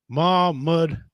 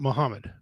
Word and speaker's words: Mahmud: Dean says it's pronounced Mahmud, not Muhammad.